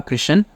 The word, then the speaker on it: Krishan: Silent Hills by Anita Krishan which is a collection of 12 ghost stories that happen in India based on real life events I've been pronouncing the author's name wrong as Anita Krishnan for the past few